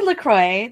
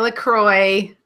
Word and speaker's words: LaCroix: Lacroix look why it should rhyme with enjoy enjoy Lacroix so Wow tabernac while